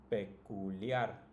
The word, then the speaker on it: peculiar: Now if you notice, it's also the last, right? The last syllable that's pronounced the strongest. Celular, familiar, particular, peculiar, and popular.